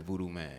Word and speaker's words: Vudu Mane: man or is it voodoo man no it's voodoo man voodo voodoo man yeah like Gucci man okay that's but you